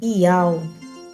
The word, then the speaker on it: YAUH: com som de U, e o último H é o Rê mudo, assim como em português no hebraico também o último H é mudo. Temos aí o nome do Criador revelado, Iau.